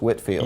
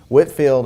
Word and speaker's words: Whitefield: I believe that even though it's spelled Whitefield, I think it's Whitfield.